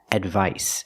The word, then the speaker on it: advice: second word is advice the C makes the S sound like in Star and Sun s advice and advice is a